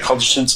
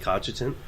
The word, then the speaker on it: contingent: were escorted by a contingent of armed tactical response officers to A1's chamber the following day. Who do you want to be? Did you pronounce contingent like cogitant? Contingent, I said.